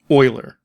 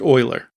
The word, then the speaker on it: Euler: Next, after the code we have written but still in fixed update, write rigid body rotation equals quitterian oiler. And yes, it is pronounced oiler, which is also an X, Y, and zed value.